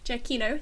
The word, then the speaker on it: Giacchino: Giacchino, thank you very much.